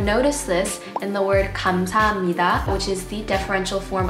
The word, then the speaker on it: 감사합니다: So although there is a piup in the spelling, you don't actually pronounce 감사합니다. You pronounce it 감사합니다 because of nasal assimilation.